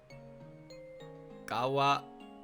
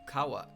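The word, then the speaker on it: 川: Gawa. What? No, that's Kawa. It's pronounced Kawa.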